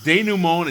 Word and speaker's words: denouement: It's denouement, and you didn't pronounce it correctly, and you never will.